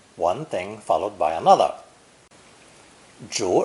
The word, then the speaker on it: 逐: Pronounced second tone. 逐, 逐.